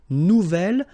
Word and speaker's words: nouvel: Nouvelle, phonetically you pronounce it like the feminine version, but then you write it N-O-U-V-E-L.